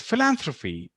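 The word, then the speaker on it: philanthropy: this is the hint this sound is similar to this sound so it's philanthrophy so the same way we are saying thank you we say philanthrophy and another very interesting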